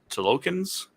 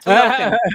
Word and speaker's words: Talokan: The Tolokans? Hmm. See, I wasn't trying to pronounce it. Talokan. Yes, you got it right.